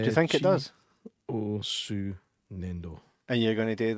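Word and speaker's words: 粘土: It's called Chi O Su Nendo.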